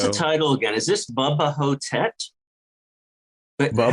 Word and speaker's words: Bubba Ho-Tep: Is this Bubba Ho-Tep? But Bubba, how do you spell that?